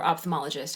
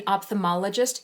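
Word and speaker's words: ophthalmologist: opthamologist I can't remember did you know there's a silent l in that word I no of course not right I mean opthalmologist you hear that one L there's another l opthalmologist no no what is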